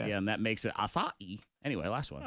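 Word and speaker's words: açaí: No, it's acai. Because it's got that little, Little accent, the like- little boon flipple on the bottom of it, where it looks like it's yeah.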